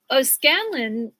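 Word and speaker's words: O'Scannlain: O'Scanlan, and it's spelled Scannlain, joined by the 14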